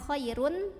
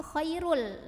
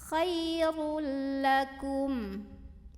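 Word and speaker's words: خَيْرٌ لَكُمْ: dileburkan ke huruf lam jadi bacanya bukan Choirul tapau tapi Khairul langsung kelam tanpa ditahan jadi ini masuk tanpa dengungan khoirullakum nah kemudian di ujung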